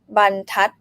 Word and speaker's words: บรรทัด: บรรทัด first syllable mid tone bun like Nam already pointed out, right? And bun, so it's boy my middle consonant, bun mid tone, tat high tone because ทอทหาร low consonant dead syllable and short vowel, tat bun tat bun tat.